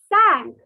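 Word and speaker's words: cinq: 5 is sank. Like the boat sank in the water, the ship sank in the water. Doob gaya, sank. So that pronunciation, sank.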